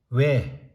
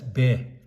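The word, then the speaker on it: བས: always read it as, every time you see ba as the root letter and sa as suffix in between two dots, always read it as we. Never read it as be.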